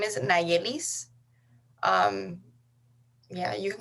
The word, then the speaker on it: Nayelis: your name and how to spell it like phonetically or like word bite letter sorry don't worry um so my name is nailis um yeah you can call me if